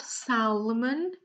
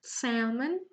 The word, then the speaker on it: salmon: Wrap, the L is silent in salmon, so it's not salmon, it's salmon.